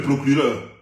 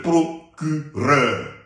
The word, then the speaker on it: procureur: On ne dit pas monsieur le procureur. Parce que le R, ça se prononce.